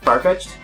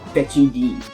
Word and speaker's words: Farfetch'd: Did I ever tell you about my friend of mine who doesn't pronounce it Farfetch'd?